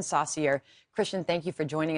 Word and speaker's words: Saucier: How would you pronounce it? Saucier, right?